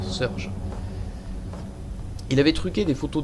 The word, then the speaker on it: Surge: Vous le prononcez comme vous voulez, moi je dis Victor Surge.